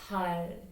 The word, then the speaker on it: 팔: Your tongue is rolled up and then touching your top of your mouth. Then it become 팔.